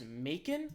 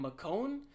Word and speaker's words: Macon: Macon? It's like bacon, but with an M. Macon?